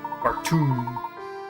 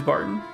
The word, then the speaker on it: Barton: Bartoon. It's Bartoon? Is that how you pronounce his name? Terribly sorry, sir. Please forgive my momentary lapse in judgment. I'll just be going now. This poor man. It is Barton.